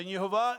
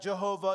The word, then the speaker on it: Yehovah: same thing in Hebrew there's no J sound in Hebrew so although it was spelled with a J sometimes it was always pronounced with a Y sound but you'll have yov